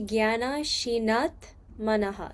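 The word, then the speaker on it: ज्ञानासिनात्मनः: So, it'd be gyanashinatmanaha. You're You're combining the two words together.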